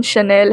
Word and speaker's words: Chanel: Brand ambassador of शल वैसे तो इसका स्पेलिंग चैनल लग रहा है लेकिन प्रोनाउंसिएशन शनेल है।